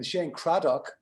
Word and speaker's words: Cradock: will tweak you on the pr on the pronunciation that's okay because you're north american shane craddock right with one d which you're fine no